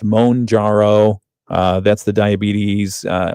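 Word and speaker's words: Mounjaro: There's Mjaro, which is actually pronounced Monjaro.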